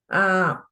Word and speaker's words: diagnoses: On the other is diagnoses. Diagnoses.